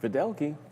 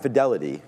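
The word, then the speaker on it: Fiddelke: New CEO Michael Fidelki added uncertainty. Fideli. So not Fidelity, you know, Michael Fideli, I believe, is how you pronounce it.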